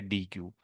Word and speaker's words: deque: जिसका नाम है DEQUE, इसको बोलते हैं डेक। इसको क्या बोलते हैं, डेक, कि इस क्यों इसकी प्रोनाउंसिएशन ये है, ठीक है, डेक।